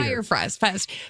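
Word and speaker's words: Fyre Fest: Yeah, it's Fire. Fire Fest. Fire Fest. The thing is, it's spelled really weird.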